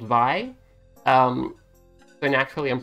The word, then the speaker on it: Vi: is a character called vi um but naturally i'm pronouncing the name by but it's in this game it's v because it rhymes with b let's think of the